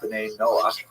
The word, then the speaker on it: Ben Noah: And this is basically a Hebrew term ben Noah for or Ben Noah is the way Jews would pronounce it.